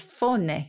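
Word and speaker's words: fáinne: And the Irish for a ring is faune, I think, F-A-I-N-N-E. My Irish pronunciation is legendary for its terribleness, but that means a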